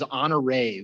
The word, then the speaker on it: Anare: So, my middle name is Honoré, which is kind of a strange name. It's spelled Anare, and it's a Fijian interpretation of the name Henry. So it's like Henri, as it'd be pronounced in French.